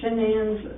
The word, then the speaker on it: Shanann: Shanann and apostrophe A-N-N. Okay. It's easier to say it when I spell it out, but you keep wanting to say Shannon, of course, but a lot of people call her Shannon.